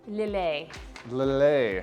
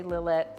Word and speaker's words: Lillet: say that first word lilay it's spelled l-i-l-l-e-t it is a french word and we're going to be doing a little a a little a spritz some you'll hear some people say lillette spritz but if you're trying